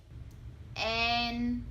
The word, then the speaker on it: en: example Kem and Tem En This one sounds like men in English for example Shane and